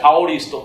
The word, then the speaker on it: aoristo: En el lenguaje griego de la Biblia, que es una palabra que se pronuncia aoristo, quiere decir cosas que ya sucedieron en la mente de Dios.